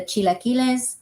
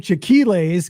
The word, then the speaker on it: chilaquiles: We had the chilaquiles. Okay, that's it. That's Scott's favorite food, but he calls them chiquiles because he doesn't know how to pronounce them.